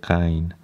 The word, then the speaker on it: غ: And in terms of the pronunciation, it's again ghain, like ain in Persian. It is a bit softened compared to the Arabic. They say ghain.